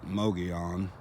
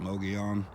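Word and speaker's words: Mogollon: sand and gravel and the way that you pronounce this area is mogi on they spell at em OG o ll o n no gaalan but they pronounce it low G on no gear on the rim area that is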